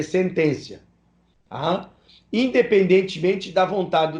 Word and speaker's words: sententia: uma sentencia que é com dois t se escreve sententia mas se lê sentencia a independentemente da vontade